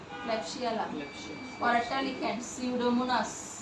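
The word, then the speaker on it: Pseudomonas: bacteria দিয়ে হইতে পারেমোনাস নো পি উচ্চারণ হবে না সিউডোমোনাস ওকে ক্লিনিক্যাল ফিচার লিখেন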